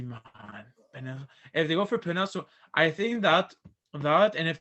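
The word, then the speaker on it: Penei: Panay, it's Panay Sewell. Penny Panay Sewell. Sewell. The He got hell? Wait, I'm that. gonna go check his. Man, that's crazy, man. If they go for Panay, I think that, and if they draft a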